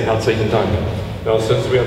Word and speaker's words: Herzlich: It means, if you pronounce it correctly in German, it says Herzlich, something that comes from your heart.